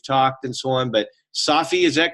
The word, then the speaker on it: Safi: I've seen your name for years and we've talked and so on, but Safi, is that correct? Absolutely. Safi.